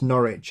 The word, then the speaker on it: Norwich: If I hear another non-Brit pronounce Norwich as Norwich, I don't know where I'll do.